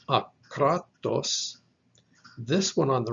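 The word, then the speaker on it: ἄκρατος: The diacritic over the second alpha in the word is the accent mark. That's the syllable that gets stressed. So it is akratos with a stress on that second syllable.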